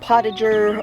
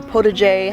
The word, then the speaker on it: potager: So moving over here, now I combine, my garden style is what is called potager or potager, however you want to pronounce it, depending upon where you're from.